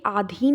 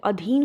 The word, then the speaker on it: अधीन: भारत कभी ब्रिटेन के आधीन नहीं था। तो आधीन नहीं होता है। अधीन होता है।